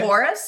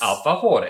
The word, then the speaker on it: alfajores: Argentina dessert, which is a You gonna say Alfajores? Alfajores.